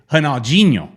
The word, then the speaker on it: Ronaldinho: Yeah, for example, Ronaldinho is Ronaldinho. Their R's, yeah, exactly. Their R's sound like H's, their D's sound like G's.